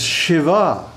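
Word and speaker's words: Śivā: on Shakti you notice the last word of this shloka is Shiva with a long a the feminine ending Shiva and Shiva Shiva and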